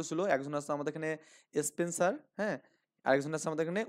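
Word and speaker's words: Spenser: তো কাব্যে ছিল কি এখানে স্পেন্সার ছিল, এখানে কি ছিল এখানে স্পেন্সার, ওকে, SPEN, স্পেন্সার, SER এখানে বাংলায় উচ্চারণটা এরকম হবে এখানে দন্ত শয় প স্পেন,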